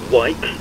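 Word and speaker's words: Weick: important the ipoop was designed by fred wike pronounced for the engineering and research corporation in riverdale maryland and the first one flew in 1937.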